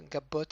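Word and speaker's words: גבות: Gimel avec un patar, donc ga, un bet. Cette fois-ci, le vet devient bet. On expliquera pourquoi dans une autre leçon. Donc c'est un bet avec le point intérieur qui est accompagné d'un cholam vav. Donc c'est le vav avec le point qui se trouve au-dessus du vav. Donc ça va faire bet plus le cholam vav bo.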